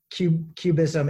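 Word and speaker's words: QBism: by the way i should say i think cubism it's spelled q b ism and q for quantum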